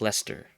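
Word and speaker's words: Leicester: that are like spelled differently um when but pronounced also like differently or like Lester and Worster sure and glester but um I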